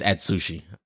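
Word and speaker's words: Atsushi: what's his name as I I can never pronounce this nigga's name on not like it's like atui atushi hold on it's atushi it's at Sushi literally but um yeah so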